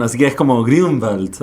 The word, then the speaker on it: Grunwald: Lleva 2 puntitos en la U y significa bosque verde en alemán. Así que es como Grunwald o algo así, pero es Grunwald y ya.